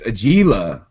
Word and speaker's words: Agila: All right, I gotta pronounce it again right, and it is Agila.